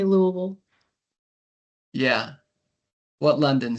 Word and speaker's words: Louisville: I mean, there's not a certain way to say it, but most people from Kentucky say Louisville.